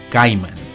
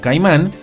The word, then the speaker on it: Caiman: caimanes verdaderos, del género caiman. Y sí, se pronuncia caiman y no caimán, porque esta última es la pronunciación del nombre común en español, y caiman es como se debe pronunciar en latín.